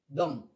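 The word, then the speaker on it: dung: say go that's it down instead of so saying down we say d d dong so it's d u n g d with a v d d d dong it's coming from down so it's going to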